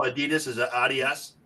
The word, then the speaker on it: Adidas: Is it Adas? Adidas is the German pronunciation. That's how you say it in the German language.